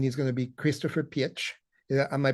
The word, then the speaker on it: Pietsch: We're extremely interested in the usage of artificial intelligence, and he's going to be Christopher Pietsch. Am I pronouncing it right correctly? No, it's peach, like the fruit, actually.